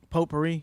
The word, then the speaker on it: potpourri: Potpourri? Yeah. How you say it? Potpourri? I mean, like the way it's spelled, I've never said it like that.